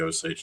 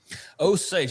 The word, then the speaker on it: Osage: Oage I I see I gave him the wrong pronunciation. That is my fault. I was like I just I was riffing on it. But I'm glad that you you corrected us there, O Sage Nation.